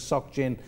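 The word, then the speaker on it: Société Générale: they now sock gen i can't say society general i'm not sure of the pronunciation so it's known as sock gin they've warned something about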